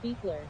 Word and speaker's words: Buer: says by the way my last name is pronounced Beer Crazy vix1 says relico